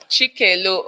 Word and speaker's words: Chikelu: My name is not Chicken. It's Chicken. You said? Come again. It's pronounced Chicken. Chikelu.